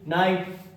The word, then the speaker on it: knight: Logic क्या है कि के बाद अगर एन आए तो के साइलेंट होगा मेरे भाई, रटना बिल्कुल भी नहीं है। KNIGHT नाइट, नाइट मतलब योद्धा होता है जानते हैं।